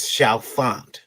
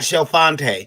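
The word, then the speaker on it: Chalfonte: that are mispronounced uh one is shalfunt i don't care who's hearing this it is not shelfante there is no accent mark on that street name this show font secondly i will contend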